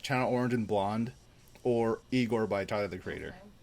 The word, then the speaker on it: Igor: so it's like China orange and blonde or Igor by tide of the creator Mike it's pronounced I go did you listen to any